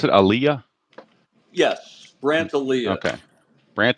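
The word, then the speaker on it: Alyea: alah is it Aliyah is that how you pronounce it Aaliyah yes brand Ayah okay Brant Aaliyah okay Aaliyah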